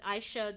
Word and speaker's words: Aisha: I don't Uh, but Aisha, the way that I pronounce it is also the Japanese way to pronounce it.